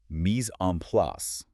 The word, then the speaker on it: mise en place: My definition, mise en place, pronounced mise en place, literally translates to everything in its place.